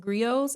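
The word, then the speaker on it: griots: So like the what Africanameans specifically in West Africa, what it seems like they called them is pronounced grios. I think it's like g r i o ts.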